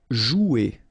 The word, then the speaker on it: jouer: Okay, remember you combine this O and U, you get the sound OU. So joue. Okay, J is pronounced like J. Joue. And then ER here, you combine them at the end.